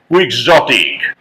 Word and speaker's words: quixotic: i c quixotic quixotic the pronunciation is quixotic there is a person